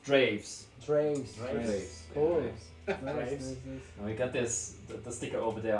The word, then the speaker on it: Draeves: But yeah, with Drees pronounced Draves.